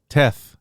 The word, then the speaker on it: Teth: I thought his name was Tetten something. Teth Adam? Tetten. I don't have a clue. Toth? Teth.